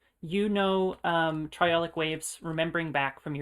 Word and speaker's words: triolic: and you hear one of them known as triolic waves that's spelled t-r-i-o-l-i-c triolic and that so you're hearing